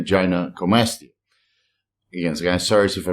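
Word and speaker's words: gynecomastia: serum estrad concentrations is Gina comasa not gin comasa gy comasa again guys sorry if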